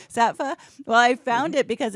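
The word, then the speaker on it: Saatva: And I found how do you say it, Sattva or Sattva? How do you say it? I say Sattva. Sattva.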